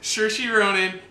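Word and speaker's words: Saoirse Ronan: it right I know I got all right sure she Ronan and toofie shall I tell them she'll make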